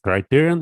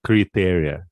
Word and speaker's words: criterion: Yeah, I used to pronounce it like criteria, like since in Russia it's criteria, and now okay, criteria. In Latin languages as well. Mm-hmm. It's pronounced, but in English they pronounce it criterion.